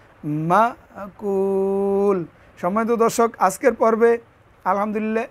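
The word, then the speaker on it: مأكول: লাম জের কুলি শব্দটা যেহেতু এখানে ওয়াকফা এজন্য জের উচ্চারণ করা লাগবে না এখানে লামের মধ্যে থামবো এজন্য উচ্চারণটা হবে মাকুল মাকুল সম্মানিত দর্শক আজকের পর্বে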